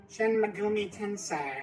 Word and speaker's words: Shin Megami Tensei: Shin Megumi Tensei. Yes, got the pronunciation right and everything.